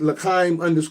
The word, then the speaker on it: L'chaim: So on Instagram, it's spelled, what shall I say, it's pronounced L'chaim _ the juice, but it's spelled LKHYYM.